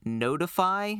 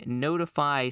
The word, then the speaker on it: ntfy: is this tool called notify specifically it's ntfy I I guess pronounced notify which this thing is